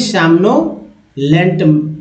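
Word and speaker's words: somnolent: सोमनोलेंट का मतलब होता है, अब ओ का उच्चारण यहाँ पर आ के रूप में हो रहा है, दूसरा ओ जो उच्चारण दोस्तों ओ के रूप में हो रहा है, इसलिए सोमनोलेंट मैं पढ़ रहा हूँ।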